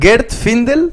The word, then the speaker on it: Gert Findel: Así que aquí estamos con el gran Gert Findel, muchas gracias por estar acá. Se pronuncia bien así mismo, muchas gracias por la invitación y bienvenido.